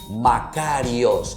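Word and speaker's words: μακάριοι: Bueno, vamos a aprender entonces en griego y se dice Macarios.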